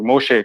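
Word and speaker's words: משה: is in their letters huh how do you pronounce moses in hebrew moshe correct no problem how how he became okay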